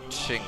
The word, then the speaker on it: Qing: Russia Japan or the Ching Empire and yes that is pronounced in shame as I mentioned in my last series I looked it up and the QI in Chinese that's actually pronounced this XI which seems kind of